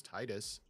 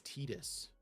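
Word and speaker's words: Tidus: Uh, I was under the assumption it was Titus for forever, but it is Tetus, Phantom Terrain, Sid, Timeless Artificer.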